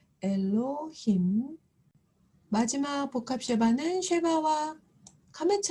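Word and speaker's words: אֱלֹהִים: 밑에이 복합 시바가 왔을 때 고민하지 아니하고 새거를 발음해 주시면 되는데 에가 되겠죠 이것이 바로 하나님을 가리키는 히브리어 단어죠 엘로힘 마지막 복합 쉐바 쉐바 카메츠 하트이 만났습니다 그래서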